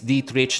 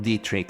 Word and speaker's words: Dietrich: And yes, it's Dietrich, not Dietrich. Apparently, it's a soft C, not a hard C. Not even like a K, a C, a ch, like church.